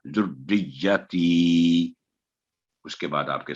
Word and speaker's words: ذریتی: تو جو غلطی ہوتی ہے بعد دفعہ ذریتی, تو یہ صحیح تلفظ نہیں, یہ صحیح تلفظ یہ ہوگا ذریتی.